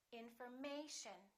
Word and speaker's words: information: here the a information so we don't say in for and we don't say may shown we don't say information we say information once again information in